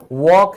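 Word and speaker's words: walk: फिर बात करना तो आपने कभी ध्यान दिया टॉक? टॉक बोलते हैं, ये भी साइलेंट है। तो चाहे टॉक है, वॉक है, इसमें एल साइलेंट है।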